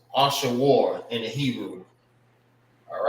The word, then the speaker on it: Ashur: And how you say his name in the Hebrew is, I'm gonna write it over here. Ashawar. Ashur. It's Ashawar in the Hebrew.